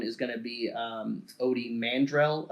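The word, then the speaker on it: Ody Mandrell: going to be um odie mandrell i believe is how his name is pronounced he's the guy who's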